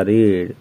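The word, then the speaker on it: read: हमारा हैड लगेगा, और पढ़ना का रीड तो हो जाएगा रेड, लेकिन स्पेलिंग वही रहती है।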